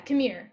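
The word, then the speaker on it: Qimir: And so with Kira, am I pronouncing that right? Yeah. Yeah, Kamir.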